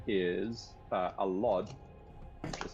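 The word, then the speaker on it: Allod: His actual dad's name is uh Alad, which is spelled like that.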